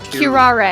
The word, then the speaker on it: curare: Curare. Curare. Curare. Curare. It is definitely Curare, because that's how they spell it in Japanese as far as I Curare.